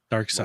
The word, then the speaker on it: Darkseid: written already yeah yeah Darkseid Dark Side that's the dark side that's how you spell it interesting remember Dark Side